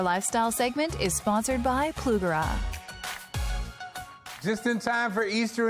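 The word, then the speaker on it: Plugrá: She's teaming up with Plugara.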